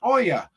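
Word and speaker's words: Olga: the first name is Oya that's spelled o l g a but it's pronounced o l y a and we tried calling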